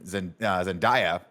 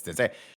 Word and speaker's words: Zendaya: was Timothée Chalamet and Zendaya. That was the same article, right? Where we're like, oh, that's not how you say it. It's Zendaya.